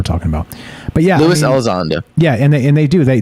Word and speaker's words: Elizondo: So I'm not 100% Team Alonzo, but Elizondo. Elizondo. I say his name a lot. I should say it right.